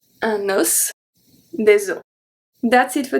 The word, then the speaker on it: os: And the last one, we have un os, so here we pronounce the S at the end. Un os, des os. We don't pronounce the S at the end. Un os, des os. So here is going to be the closed O, and here is going to be the open O, the soft O.